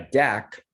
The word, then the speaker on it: deque: Ted Holmberg: So quick introduction is deck is actually short for double ended Q, so if you pull the D E off of double ended and put, and then you take the first couple letters off of Q right. Ted Holmberg: and combine those together, you get this hobbled